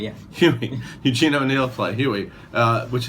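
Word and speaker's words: Hughie: Huey. Yeah. Huey.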